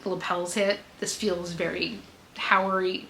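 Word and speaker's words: haori: way that the lapels hit, this feels very Howery Hayori. H A O R I. I can never pronounce it in like perfect condition.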